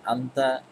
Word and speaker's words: أنت: তুমি mean আইনা আনতা আবার আরবিক স্পিকাররা কথোপকথনের ক্ষেত্রে এই mean আইনা আনতা বলে না তারা সাধারণত mean আইনা আনত বলেই থেমে যায় তো আমরা যেহেতু শিক্ষার্থী এবং মেইল বোঝানোর জন্য এই শেষের তাটি উচ্চারণ করব তো মোহাম্মদ মিন আইনা